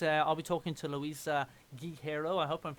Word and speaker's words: Guerreiro: I'm going to just denounce my heritage and just be like, Guerreiro is fantastic. If you're Portuguese, Guerreiro. you kind of saying it as Guerreiro. Because it's like, our word for war is guerra.